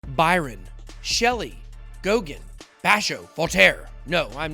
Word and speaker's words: Goguen: Just so you guys know, if you look up the exact pronunciation of the word you guys call Gauguin, it says Gauguin.